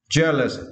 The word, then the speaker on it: jealous: this phonic right yeah jealous you need to stretch the first syllable and here the meaning